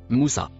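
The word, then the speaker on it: موسى: Le dernier mot en couleur marron se prononce Moussa.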